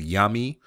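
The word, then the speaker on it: Yami: at a place called yummy which is a very not yummy as in yum yum but y a m i it is spelled a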